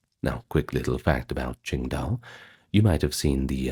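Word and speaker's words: 青岛: Now, quick little fact about Ching Dao. You might have seen the uh Chinese beer brand Tingta. Now, that's the old name for it under the Wade Jio's pronunciation, but we call it Ching Dao these days.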